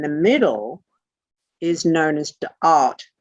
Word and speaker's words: Da'at: This little spotty bit in the middle is known as Da'at, D-A'-ath.